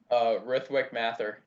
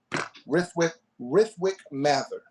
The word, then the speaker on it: Rithwik Mathur: We have, pronounce your name for me so I don't mispronounce it. Rithwik Mathur. Rithwik Mathur.